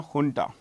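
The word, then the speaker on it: junta: by the military ha this J is pronounced H remember this ha okay we found a dance the jarandi dance ha folk dance. So this is honta here and u so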